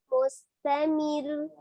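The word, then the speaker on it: مستمر: Ada penekanan di huruf ro walaupun dibacanya dia tipis ya. Tapi dia penekanan karena terakhirnya itu adalah tasdid ya, tetap disukunkan tapi ditekan. Mustamir, mir ya, ada seperti itu penekanan di huruf ro-nya. Wa iyarau ayatay yu'ridu wa yaqulu sihrum mustamir.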